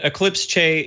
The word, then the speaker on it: Eclipse Che: You're pronouncing it absolutely correct. And Eclipse Che is a developer workspace server and a cloud IDE.